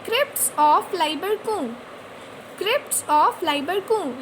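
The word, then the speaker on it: Lieberkühn: और उन क्रिप्ट्स को कहते हैं क्रिप्ट्स ऑफ लाइबरकू। क्रिप्ट्स ऑफ लाइबरकू, लाइबरकू का स्पेलिंग है LIEBERKUHN, क्रिप्ट्स ऑफ लाइबरकू।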